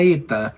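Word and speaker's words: ἦτα: n o una h, pero la eta en realidad tiene un sonido de e larga, entonces es como si alargáramos un poquito más la pronunciación de la e. Entonces, ETA.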